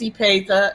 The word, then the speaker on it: Epatha: he paid just fine as long as it's ipeda and not yet right so there you